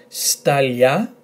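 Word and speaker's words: σταλιά: Stalia, stalia. Now you could be correct in saying stalia, but because in Greek normally those two are gonna go lia rather than lia, you sort of slightly pronounce that.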